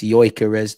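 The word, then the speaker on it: Gyökeres: It's yoz the G is silent.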